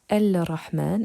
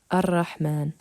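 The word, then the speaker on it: الرحمن: Donc, on ne prononce pas le lemme de l'article, on passe du alif directement au ra. Nous ne dirons pas Al-Rahman, mais Ar-Rahman.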